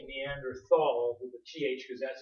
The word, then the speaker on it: Neanderthal: the time I'll say Neanderthal with the th because that's the way we say th in English but in German they would pronounce it like a t but I usually say